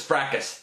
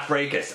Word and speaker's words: Fracas: skirt not scourge and you know this is fracas not Freitas I get it pronouncing